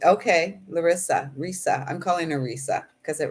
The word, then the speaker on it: Risa: Risa. Rhysa is her name. Risa rhymes with Lisa.